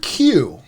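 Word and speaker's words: queue: leave you with this the word Q as in a waiting line is pronounced as the name of the first letter and is followed by for silent letters screw q vámanos homophones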